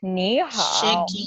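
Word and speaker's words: 你好: In the first picture, It's ni hao. That's how they pronounce it.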